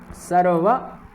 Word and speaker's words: सर्व: द्रुपद आश द्रुपद आश सर्व यहां वा का पूर्ण उच्चारण करना है एव यहां भी वा